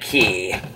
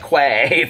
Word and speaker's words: Quay: the key sunglasses see it's qu a why Australia but you pronounce it key I guess I called it Kent Quay forever and I was so